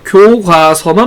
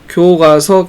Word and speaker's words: 교과서: 그 다음에 이제 교과서 역시 마찬가지로 원래는 틀린 발음이었습니다. 교과서만 맞는 발음이었습니다만 교과서, 교과서가 둘 다 모두 맞는 발음이 되었습니다.